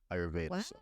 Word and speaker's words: Ayurveda: So just even speaking on the whole, you said it's pronounced Ayurveda, right? Ayurveda.